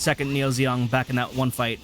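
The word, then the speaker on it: II Neo Zeong: the way that's pronounced second Neo zong back in that one fight there's a two in front of it a Roman numeral 2 and it's pronounced second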